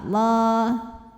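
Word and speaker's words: الله: Lam pada lafaz Allah atau lam jalalah dibunyikan secara tafkhim sebab huruf sebelumnya fathah, maka dibacanya tebal. Allah.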